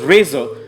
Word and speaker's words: RZR: 1000 coming up the polaris rzr pronounced razer is a sport side